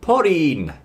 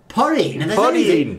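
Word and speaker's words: ポリン: have Pauline now again we don't have the L Sound in Japanese so in Japanese we're going to say porin porin so oh yes I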